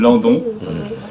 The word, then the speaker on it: Landon: 2004, ainsi que Emmeline London, oui, je prononce bien. C'est français comme nom, donc on peut le prononcer. Landon, à qui l'on doit